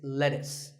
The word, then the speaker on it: lettuce: I know the spelling looks like it's let's use but it's not it's lettuce and since we're talking